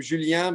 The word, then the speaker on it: Julien: I say his name Julien because he's French, so I have to say it with an accent.